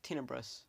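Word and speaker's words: Tenebrous: Plagueis was trained by Darth tinebrose I think that's how it's pronounced who play against later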